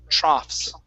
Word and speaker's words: troughs: troughs and the in the gh here is an f sound so it's an ah okay so troughs drops okay very good